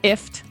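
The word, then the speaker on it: IFTTT: web service it's called if rhymes with gift but really it's an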